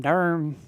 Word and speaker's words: Durham: You all have been listening to Keegan Heron all the way over from Durham. You say it with one syllable? Oh, yeah. Durham. All right, Durham.